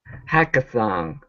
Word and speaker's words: hackathon: in the middle hacka hackathon hackathon okay um anyone know what A hackathon is anyone know what a hackathon is huh hackathon uh make sure to pronounce that n instead of hackathon on